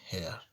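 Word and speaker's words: heir: ठीक, अब यहाँ कह रहे हैं यदि कोई वर्ड एच से शुरू होता है और एच के बाद वोवेल का प्रयोग हुआ है लेकिन एच का उच्चारण साइलेंट होता है तो उस वर्ड से पूर्व ए का प्रयोग ना करके एन का प्रयोग किया जाता है। ठीक है, ओके, जैसे N honest, N hours, N हेयर।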